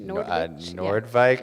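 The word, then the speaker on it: Noordwijk: And do you pronounce this Nordwich? Nordwijk, yeah.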